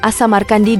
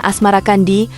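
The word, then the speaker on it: As-Samarqandi: Ibrahim atau Makdum Ibrahim assamarkandi diperkirakan lahir di samarkan Asia Tengah pada paruh awal abad 14 babat tanah Jawi versi meinsma menyebutnya Asmara Kandi mengikuti pengucapan lidah Jawa terhadap asamar Kandi berubah menjadi asmarakandi Maulana Malik Ibrahim kadang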